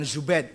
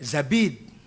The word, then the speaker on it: Zabid: Az-Zabidi bukan Zubaid, Zabid.